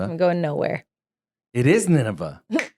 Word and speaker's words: Nineveh: I'll spell it. Arrapha. Arafa. I'm going Nineveh. He's going Nineveh. I'm going nowhere. It is Nineveh.